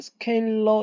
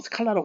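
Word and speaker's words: scalar: 그다음에 오퍼레이션은 보면은 스케일러 영어 발음은 이제 우리나라는 보통 스칼라라고 부릅니다만 영어의 발음은 스케일러긴 합니다.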